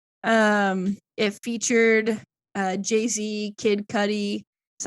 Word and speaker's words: Kid Cudi: his best album um it featured uh Jay-Z Kid Cudi is how you say that I'm not wrong